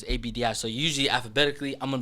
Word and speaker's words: Abdi: tryouts I'll never forget so my last name is spelled OBD so it's Abdi so usually alphabetically I'm gonna be the first